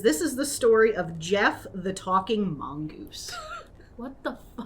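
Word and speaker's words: Gef: the and Jeff is spelled g f yes a g EF so if anyone wants to look it up that's yeah that's how you spell it um I read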